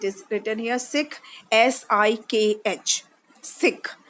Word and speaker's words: Sikh: Children, it is written here Sikh, S-I-K-H, Sikh. The pronunciation is Sikh.